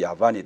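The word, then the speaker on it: Javan: 그리스를 야완이라고 부르는 거예요 영어식 발음은 야완이에요 독일식으로 하면 야반이 되고 그럼이 페르시아의 군주이 뒤에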